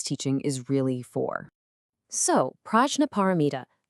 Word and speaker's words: Prajñāpāramitā: So, Prajñāpāramitā, it's pronounced something like Prajñāpāramitā, and it means, quite literally, the perfection of wisdom.